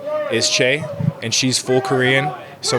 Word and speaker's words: Choe: So they'll just say Chloe, and then if people are really looking at it, they'll just say Choe.